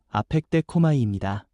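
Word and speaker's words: ἀπεκδέχομαι: 여기서 기다린다는 말은 헬라어 발음으로 아펙데코마이입니다.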